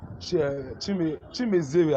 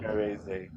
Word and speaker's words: Chimereze: Chimezere, Abi. Let me be sure I pronounce it well. Chimereze. Chi? Oh, Chimere. Chimereze. Yes.